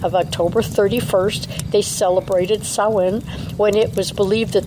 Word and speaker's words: Samhain: And it's spelled Samhain. So when I say Samhain, maybe people aren't going to connect it with the word that they've read.